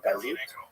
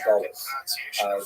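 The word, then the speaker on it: גלות: but the word exile, in Hebrew, galut, or in a Ashkenazi pronunciation, Gullus, that Jews were thrown out of their land.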